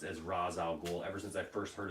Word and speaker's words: Ra's al Ghul: it just bugs me because it's always been Ra's al Ghul you know it's always been pronounced as Ra's al Ghul ever since I first heard of the character it was Ra's al Ghul you know so he should be Ra's al